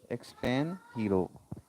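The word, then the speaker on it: extranjero: Uh this is the Spanish word and you can see the detail of this word expand hero. When uh in Spanish we uh pronounce the J sound as a H.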